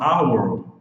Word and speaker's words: hour: E no caso do H mudo, por exemplo, na palavra hour, o H é mudo, então o A é som de vogal, A.